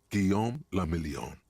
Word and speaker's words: Guillaume le Million: Guillaume le Million. What? If it doesn't rhyme, you're not pronouncing it right.